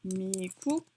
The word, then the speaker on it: 미국: And actually they don't say America, they say 미국. Whoa. 미국 for America. This is just like how you would spell it, romanizing it, but this is how they actually say it, 미국.